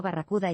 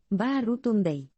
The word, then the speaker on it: Baratunde: Lo han llamado Barracuda y Camarero, mientras que otros profesores, asustados ante todas esas sílabas, simplemente lo acortaron a Brad. Para que conste, Baratunde se pronuncia Baratunde.